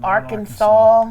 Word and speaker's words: Arkansas: And it's Arkansas. There's no 4 at the end of your Lord, name. it's Arkansas.